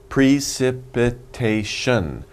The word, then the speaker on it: precipitation: kind of long right precip it a shun pre sip it a shun wow so many syllables there's five syllables so let's say it fast well slow first and then fast precipitation precipitation one more time precipitation okay so if you say it quickly it sounds like precipitation okay precipitation just means